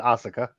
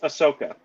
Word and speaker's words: Ahsoka: you mispronounced her name no I I said Asuka it's Ahsoka oh okay so the